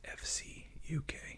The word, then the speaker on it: FCUK: wonderful uh viewers from the UK said it's pronounced FC UK so they don't say I really want to call it Fook I think it's just great sounds like it